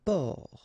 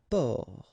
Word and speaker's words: port: Un port. Un port. Okay, exactly the same thing here. Only the last letter is different. You don't pronounce it, and then both of them are masculine.